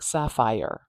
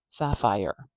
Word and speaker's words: sapphire: to the I but some people it might sound more like Sapphire Sapphire almost like it's sappi I don't know how i' spell that Sapphire like that maybe Sapphire if it was spelled like that with a little little Y in there maybe Sapphire and that's okay that's all right you can say fire like that too fire fire fire